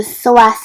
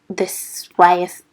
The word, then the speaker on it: psoas: sharp, so becomes this psoas. Oh my gosh, I struggle to pronounce it. The psoas muscle. It's got a silent P.